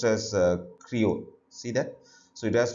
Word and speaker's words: Creole: it is not English it's dialect is called Creole so this has to be pronounced as Creo see that so it has to be pronounced